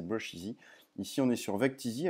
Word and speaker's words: Brusheezy: Donc ça s'écrit, ça finit pareil, E-E-Z-Y, mais c'est Brusheezy.